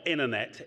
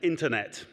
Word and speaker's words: internet: Yes, there are two T's in internet, and one of them's in the middle. Not internet, internet.